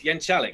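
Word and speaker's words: Jeczalik: It's Jenkalik, yeah, exactly.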